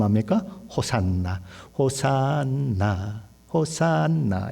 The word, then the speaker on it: 호산나: 하는 이 히브리어는 혹시 않았죠 그런데 우리는 어떻게 발음 합니까 호산나 호산나 호산나 에 우리를 구원하소서 그런 말이죠 근데